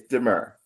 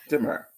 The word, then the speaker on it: D'Mur: So pronounce it one more time. Say it one So more. Demir. it's Demur. Demir. Hmm. Okay. Demur.